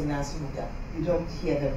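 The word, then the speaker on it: Nansubuga: It's until I did research and I found out that because our B is silent, so this is why when I say Nasuga, you don't hear the B very well.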